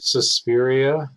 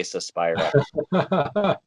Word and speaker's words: Suspiria: AKA Suspiria. Suspiria. Yeah, I always say, yeah, I've heard it both, but yeah, over this way we say Suspira.